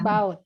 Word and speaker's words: Radboud: Oke, lanjut program S3-nya di, ini bacanya gimana nih, Mbak? Ini Saya takut salah. Radboud.